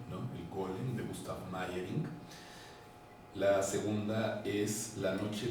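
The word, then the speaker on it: Meyrink: r i n K meing se escribe gusta meing pero se dice maying no gustav tiene tres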